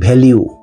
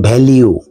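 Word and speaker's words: value: খেয়াল করুন percentage daily ভ্যালিউ অর্থাৎ শতকরা দৈনিক মান উচ্চারণটা খেয়াল করুন ভ্যালিউ সাধারণত তাদের মাতৃভাষা ইংলিশ না অধিকাংশ ক্ষেত্রেই এটার উচ্চারণ করা হয় ভ্যালু এটার উচ্চারণ ভ্যালু নয় এটার উচ্চারণ ভ্যালিউ টোটাল ফ্যাট 8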